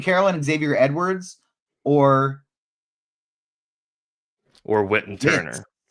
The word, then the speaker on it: Whit: Well, it's spelled W-H-I-T, but Witt and Trey Turner are also at the same position.